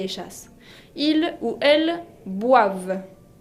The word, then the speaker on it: boivent: Ils ou elles boivent. Boivent con la ENT, la terminaison qui ne se prononce pas.